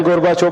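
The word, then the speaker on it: Gorbachev: टिप्पणी लिखिए Mikhail गोर्बाचोव। गोर्बाचेव, Hindi अखबार गोर्बाचोव लिखते थे, इंग्लिश वाले गोर्बाचेव प्रोनाउंस करेंगे, गोर्बाचेव।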